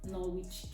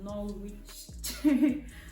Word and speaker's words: Norwich: taxi from outside uh Norwich train station it's not Norwich Norwich they said it's not normal is silent so no Rich Norwich train station took a